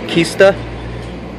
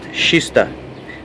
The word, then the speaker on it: Kista: uh we are here you see that kista but pronounced shista so i'm taking a